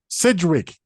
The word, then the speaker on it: Sidgwick: It's not said. If it had been in Sedgwick. There's no E. That's why I'm... Sidgwick.